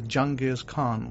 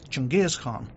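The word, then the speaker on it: Genghis Khan: you know him as Jang Khan we we don't know him as Jang Khan or Jang Khan as you as they pronounce it in the English we know him as junges Khan you know this was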